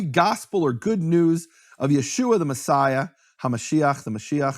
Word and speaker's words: Yeshua: Meaning, there's no question from any serious scholarship about how to pronounce that name, Yeshua.